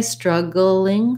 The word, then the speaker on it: struggling: be the theme today i can say struggling struggling with three syllables when i just say struggle we have a dark l there so struggle we have the this letter u says the stressed schwa you might start with